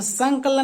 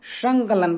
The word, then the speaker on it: संकलन: इसको संकलन नहीं, संकलन संकलन कहते हैं, अंग का एग्जाम्पल देगा।